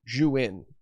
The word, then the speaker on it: Zhiyun: like this Zhiyun M2, or Zhiyun, as actually how you pronounce it.